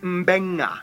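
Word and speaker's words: Beqa: makes the nd sound, B makes the mb sound. Both Q and G Fiji make the ng sound. Therefore, the town of Nadi is actually pronounced Nandi. And this word is pronounced Mbenga.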